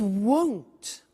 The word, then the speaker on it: won't: It won't be sunny is the negative. Won't, remember the difference between will not, won't, and want, won't, want. So be careful with that pronunciation.